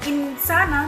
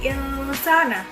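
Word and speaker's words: الْإِنْسَانَ: Jadi insana, bukan insana, tapi insana, disamarkan atau seperti membaca huruf ang.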